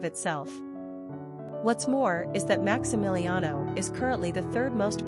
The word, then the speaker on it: Maximiliano: Pronunciation, Maximiliano.